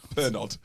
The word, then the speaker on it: Pernod: It's spelled Pernod. Yeah. Oh, okay. The T's silent. Silent D. I'm so embarrassing. I'm sorry, everyone. Sorry, Patreons. Like you, silent D.